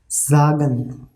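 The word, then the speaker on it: sagen: so bicycle sagan okay see in this example s is coming right after s a is coming okay so a is vowel so after s vowel is coming it means pronunciation of s will be z so s a together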